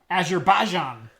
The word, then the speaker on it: Azerbaijan: So if you live in Afghanistan, Algeria, American Samoa, Argentina, Azerbaijan, the Bahamas, Bhutan, Azerbaijan. Yeah, okay. You're putting the emphasis on the wrong syllable. Oh. Azerbaijan.